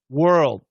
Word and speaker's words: world: But when we do a stop D, you can hear it. And if I go slow, you can hear it. World, world, world, whirl. I know it's really, really difficult. It's possible to cancel the D. Definitely, it happens. But what I would tell you as an ESL speaker, don't cancel the D. Stop it.